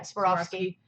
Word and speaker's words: Swarovski: Is it Swarovski? Is that how you say it? Yeah, Swarovski. I knocked over an $1,100 bird and broke it while photographing it.